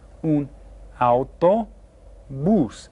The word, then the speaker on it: autobús: And in Spanish is un autobús. And you hear how this last syllable is stressed. It has the accent mark written there.